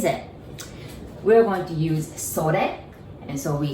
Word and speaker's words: それ: And then it, I know it says sore, but we say それ.